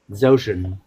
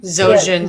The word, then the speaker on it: Zojin: the God amongst men, Zoshin. So I can never pronounce it right. Zoshin? Zojin. Zojin. Zojin. I'm busy making him out to be a demigod, and I can't pronounce his name properly.